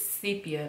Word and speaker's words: sepia: sepia I feel like a lot of people say this wrong this name wrong it's sepia not I hear people say sepia sepia I'm just like is sepia and this is my